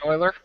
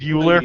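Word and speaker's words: Euler: on that one website that I always mispronounce Oiler project Oiler yes project oer or project youer there's another language that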